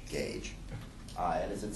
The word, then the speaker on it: GAJE: Alliance For Justice education pronounced like a tire gauge gauge uh and as it